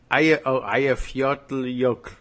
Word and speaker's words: Eyjafjallajökull: He is, but I only did the pronunciation. I made it very short. Okay. Eyjafjallajökull.